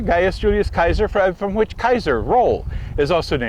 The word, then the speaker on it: Gaius Julius Caesar: My classical pronunciation from 3 years of Latin, thank you very much. Gaius Julius Caesar, Gaius Julius Kaiser, from which Kaiser, role, is also named.